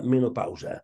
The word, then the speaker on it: menopausa: Dia Mundial de la Menopausa. Per això hem aprofitat per a recordar la pronunciació correcta d'aquest terme, d'aquesta paraula, que és, en valencià, menopausa.